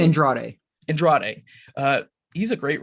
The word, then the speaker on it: Andrade: know you could maybe infer that but um Android is that how you pronounce this last name Andrade Andrade uh he's a great writer too you